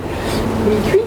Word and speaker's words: Mikuy: c'est facile à retenir, ça s'écrit M-I-K-U-Y, mi-cuit, c'est marqué là.